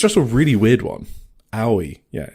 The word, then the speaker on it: Aoi: That one's going to be so annoying to pronounce if we come up in drafting discussions. It's just a really weird one. Aoi.